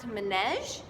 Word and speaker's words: manège: This other word, this next word we haven't gone over really yet, but it's pronounced manège, and it means in a circle.